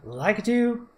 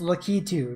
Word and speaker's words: Lakitu: Breeze stage, Lakitu and Goonie. That's Lakitu, not Lakitu. People are influencing me from saying it wrong.